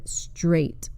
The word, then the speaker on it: straight: decay stay and stray the combination a i g h notice that the GH is silent there aren't very many words that use the combination of a i g h that you will see very often the most common is the word straight that happens to be